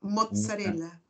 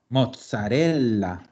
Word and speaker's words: mozzarella: Nosotros vamos a pronunciar pizza, una Mozzarella. mozzarella. Ahí tenemos doble, doble. Ya vamos a ver las dobles ahora. Mozzarella. Mozzarella. ¿Ya? Entonces, es como que dijéramos mozzarella. ¿Ya?